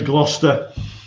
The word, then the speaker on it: Gloucestershire: uh the footworks in not gloucestershire sorry i'm struggling now because like uh now i'm learning to speak dutch okay so my pronunciation is like all over the place just just say gloucester so on the